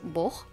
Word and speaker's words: Бог: Боже is the same as бог. Бог, we pronounce it with a х at the end instead of г.